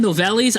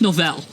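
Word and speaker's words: Nouvelles: glassa here uh they and I call them nolles I I you know what I've been doing this wrong I'm sorry people get angry it's just Noel it's pronounced Noel and i' I I've got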